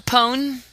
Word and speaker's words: Pone: It's Daredevil Pone. You know, the Pone is like own.